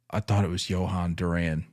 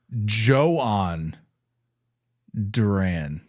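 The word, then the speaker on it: Jhoan Duran: I thought it was Johan Duran. I think a lot of people did. I think we've all been saying Johan. We've been duped. We've been speckeldorfed. Spell that real quick. So it's actually Johan Duran.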